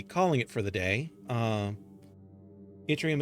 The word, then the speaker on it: Yttrium: Yttrium is a pain to pronounce because it's Swedish, but basically you don't say it like in English, Y, you just pronounce it in a short I, like Yttrium.